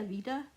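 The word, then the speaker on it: Aveda: by avilla avida vice a v-e-d-a avita this is how you say it oop i accidentally went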